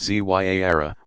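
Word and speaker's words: Ziyara: Ziara, pronounced Zyara, meaning visitation, is a form of minor pilgrimage still popular all over the world.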